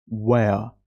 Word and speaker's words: where: वया आर को प्रोनाउंस नहीं करेंगे।